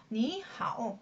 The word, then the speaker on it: 你好: * 한다고 했습니다 미아 원래는 니 하오 라고 해야 되지만 그러면 힘도 많이 들고 발음 씩 순조롭지 않아요 그래서 둥 빈 들이 삼성 삼성 이 연달아 나은 경우에 앞에 삼성 이성으로 받고자 라고 한 겁니다 그래서 니 하우 라고 발음만 해 주되 성조 표기는 바뀌지 않습니다 삼성과 삼성을 제외한 나머지가